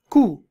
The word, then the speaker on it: coup: Coup. Now, this the P is silent in this. It's called coup, right?